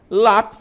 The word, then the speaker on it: lápis: Lápis, a mesma coisa, lápis. Uma paroxítona terminada em S, olha só, né? Terminada em I, desculpa. Terminada em I e S, né? Penúltima sílaba é o lá, vai receber o acento.